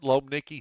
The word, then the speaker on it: Lomnicki: the way you I was mispronouncing your name I saw an i between the m and the N lomnicki six luio 6 Johnny